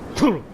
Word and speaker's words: Cthulhu: Or technically, reading somebody talking about Lovecraft's notes, Cthulhu is actually only supposed to be 2 syllables. And it's supposed to be kind of guttural, so it's like Cthulhu. Cthulhu. Like that.